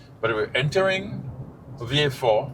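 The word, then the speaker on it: Vieux Fort: Yes. V4. People have anglicized the name a lot. Um and they spell it as it looks. View Fort even though they actually anglicize.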